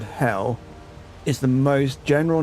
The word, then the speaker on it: Hel: Old North Hell, hidden one uh pronounced like the English word hell is the most general name for the underworld where many of the dead dwell.